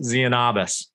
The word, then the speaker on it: Tzianabos: to look them up it's t-z-i-a-n-a-b-o-s but it's pronounced zeonobus so there you go i'm this